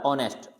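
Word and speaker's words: honest: ऑनेस्ट, अब इसमें भी एच नहीं बोला जा रहा, ऑनेस्ट। एच लिखा है यानी अपने को सामने दिखाई दे रहा है, लेकिन अपने को इसको प्रोनाउंस नहीं करना है।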